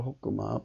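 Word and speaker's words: חכמה: 음력으로 호끄마, 발음은 호끄마입니다.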